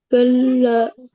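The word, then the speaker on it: كلا: কাল কাল্লা কাল্লা সায়ালামুন। হ্যাঁ, এই শব্দটার মধ্যে, এই আয়াতের মধ্যে আমরা কি কি দেখছি দেখো। কাল, কাল, এখানে তাসদীদকে আমরা ধরে উচ্চারণটা করছি শব্দটাকে, কাল।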